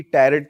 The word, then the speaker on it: tarot: टैरेट card reading बोलते क्या, टैरेट बोलते हैं, टैरो बोलते हैं, टैरो। टैरो। टैरो टैरो spelling तो टैरेट है ना?